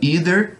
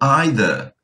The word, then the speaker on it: either: Ele pode ser pronunciado either, como os americanos, ou either, como os britânicos, tá?